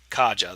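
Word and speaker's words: Caja: Um, but plenty of features in the file manager, and it's Kaja. That's how you pronounce it.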